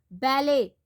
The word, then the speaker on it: ballet: Ballet, T is silent.